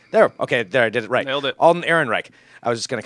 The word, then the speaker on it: Alden Ehrenreich: Alden Ehrenreich.